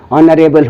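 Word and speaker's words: honourable: अच्छे से शुरू होते हैं लेकिन यह उसमें साइलेंट होता है जैसे आप पावर हो गया आपका हॉनरेबल हो गया आपका ओनर हो गया है न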